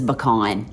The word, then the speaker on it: pecan: bye Carl Mr strand it is pecan that's exactly how I say it it is pecan